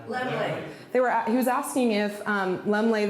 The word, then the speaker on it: Laemmle: Lemley.